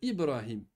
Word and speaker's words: Ibrahim: C'est pas Brahim mon frère. C'est Ibrahim parce qu'il y a une secoue sur le bas.